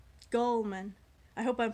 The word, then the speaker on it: Gulman: And that man is Gary, I almost said Gilman. Gary Gulman. Gulman.